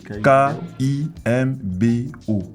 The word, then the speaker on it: Kimbo: Kimbo Kimbo c'est K I M B O. Intéressant. Ouais mais c'est écrit O comme comme Kibou. Mais mais c'est Kimbu de O. Désolé. Ça se prononce Kimbo.